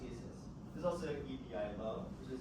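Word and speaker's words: IS☉IS: It looks like ISIS, but it's pronounced ESIS.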